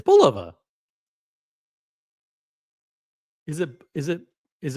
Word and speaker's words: Bulova: Who who find who pronounces it Bova? It's Bolova.